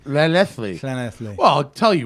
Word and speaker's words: Llanelli: It's Lallanelli. Llanelli.